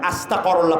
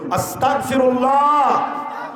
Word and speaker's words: আস্তাগফিরুল্লাহ: তারপর কি বলবেন আস্তাগফিরুল্লাহ জোরে বলেন এখানে অনেকে আস্তাগফুল্লাহ পড়ে বসে আছে আস্তাগফিরুল্লাহ উচ্চারণ করুন তালাফফুস শুদ্ধ করুন সহি করে পড়ুন আস্তাগফিরুল্লাহ আস্তাগফিরুল্লাহ মানে আল্লাহ আমি ক্ষমা চাই আর